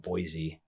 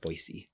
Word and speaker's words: Boise: Um I guess I said it wrong, Boise. Boise. That's so my sister I was Same my sister lives in Boise now. Boise now. I was saying Boise, she corrected me quick.